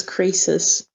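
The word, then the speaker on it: Croesus: don't know it's like oh apparently the pronunciation is creases yeah creases exactly on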